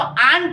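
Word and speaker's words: aren't: अच्छा आरंट, आरंट बोलता है तो आंट होता है प्रोनाउंसिएशन में आंट, लेकिन हम कह रहे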